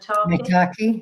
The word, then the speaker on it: maitake: How do I pronounce this one? Maitake, yeah, maitake.